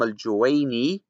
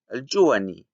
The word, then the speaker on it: al-Juwayni: He calls Imam al-Juwayni al-Juwani.